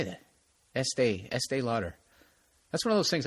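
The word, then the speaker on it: Estée Lauder: pick estee lauder i just said it right estee lauder there it is promote breast cancer awareness by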